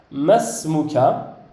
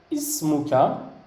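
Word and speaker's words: اسمك: Et on a ismuka, que lorsque je le prononce biwahdihi, donc tout seul, je dis ismuka. Mais lorsque je fais la liaison ici, masmuka. Donc ici, ismuka qui est donc le khabar.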